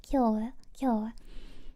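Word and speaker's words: 今日: And it it does mean that, but they have no clue how it's being pronounced just by knowing its meaning. But it's pronounced as K.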